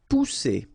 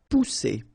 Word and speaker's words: pousser: Pousser. Alright, remember one vowel, and then double S here. So the sound that you should produce is really strong. It's s, okay? Pousser.